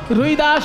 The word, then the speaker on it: रैदास: এত সুন্দর ভজনটি যিনি লিখেছেন বাবা, তাকে বাঙালিরা বলে রুই দাস, কিন্তু হিন্দি উচ্চারণে রুই দাস নয়, হিন্দি উচ্চারণে রই দাস, রই র হস্যই রই, আসলে সেটা হবে রবি। রবি মানে সূর্য, রবি দাস সূর্য দাস, সেটা হিন্দি উচ্চারণে রবি দাস, সেখান থেকে রই দাস, আর বাংলায় হয়ে গেছে রুই দাস।